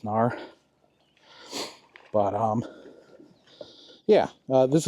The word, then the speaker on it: Knarr: I think it's pronounced Canar. I mean, they wouldn't put the K on there if it wasn't there for a reason, right? You got to pronounce it Canar. I'm pretty sure it's just NAR.